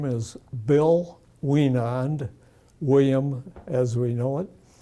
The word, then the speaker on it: Wienand: My name is Bill Wienand, William as we know it. Could you spell your last name? Oh, my last name is spelled W-I-E-N-A-N-D. Could you spell it again? Surely. W-I-E-N-A-N-D.